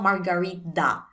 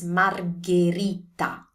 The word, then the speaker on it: margherita: It's not margarita. It's margherita. Margherita.